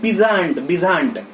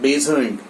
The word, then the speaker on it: Besant: will hear his speeches, he pronounces it Besant, Annie Besant. Babasaheb Ambedkar speech, when live you will hear, then you will come to know Babasaheb Ambedkar pronounces Annie Besant, not Besant, Besant.